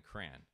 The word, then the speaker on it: crayon: It's two syllables.